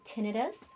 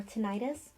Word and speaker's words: tinnitus: you can pronounce it tinnitus which is a more formal way to say it or tinnitus or just call it